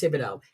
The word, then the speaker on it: Thibodeau: I said it's Thibodeau. It's not, and because it's a French spelling, but it's Thibodeau.